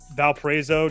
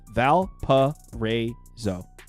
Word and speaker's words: Valparaiso: I will say that I kind of want to bet Valparaiso just because they've lost to this team now twice already this year.